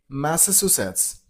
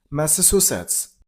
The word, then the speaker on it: Massachusetts: And while you pronounce the state name, you got to stress on the third syllable. Musets. Masses. Masses. Masses. The last is blended to a little bit. So, Massachusetts. Massachusetts.